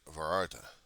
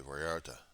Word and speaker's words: Vallarta: Actually, places similar to Albertsons called Vararta or Valarda. You want to do that kind of pronunciation, but it's usually Vallarta.